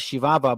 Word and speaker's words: Chihuahua: The Spaniards called the land of Ram Uri Chihuahua, pronounced as Shivava by the natives themselves.